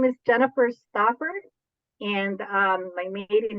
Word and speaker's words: Jennifer Stauffer: alarm for the interview uh my name is Jennifer Stafford and um my maiden name is actually adepa